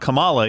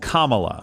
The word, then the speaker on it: Kamala: It's not Camala. Even though Democrats have said that, too. It's Kamala.